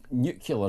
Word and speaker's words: nuclear: But yeah, nuclear, did you see? Yeah, because I always think of new and clear. Nuclear.